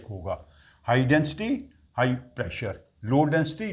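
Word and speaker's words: lambda: ये सिंबल होता है लडा एल ए एम बीडी ए लडा लडा pronounce करते हैं बी प्रोनाउंस नहीं करते लडा इसका सिगनल साइ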